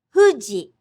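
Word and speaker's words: 富士: It's like gently blowing out a candle. Hu, hu, hu, hu, fuji, fuji, futon, futon. Just pucker your lips and gently blow.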